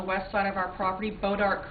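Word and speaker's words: Bois d'Arc: We have water rights to the creek that runs along the west side of our property, Bodart Creek. That's spelled B-O-I-S-D''ARC. And in 2007, when TransCanada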